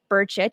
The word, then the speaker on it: Burchett: well just like with Tim birchett or Tim Burchette however you want to pronounce it both of them